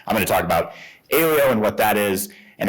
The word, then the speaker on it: Aleo: this always comes up so it's Alo like rhymes with paleo there are many pronunciations out there even our own advisers don't get this right so don't feel bad if you don't remember but if you need to remember paleo Alo that's how you think about it but